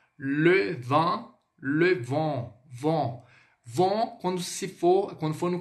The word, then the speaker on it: vent: O EN ele tem esse som, mas é como se fosse um on. Então fica assim, ó. Le vin, le vent, vent.